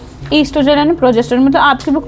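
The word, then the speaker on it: oestrogen: ईस्ट्रोजन को अगर ई से लिख के आओगे तब भी सही होगा। ओ से लिख के आओगे तब भी सही होगा। ओ साइलेंट होता है।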